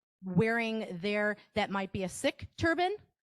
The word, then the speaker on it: Sikh: We've got some people who are maybe religious, wearing that might be a Sikh turban, S-I-K-H, Sikh, not Sikh is how that's pronounced.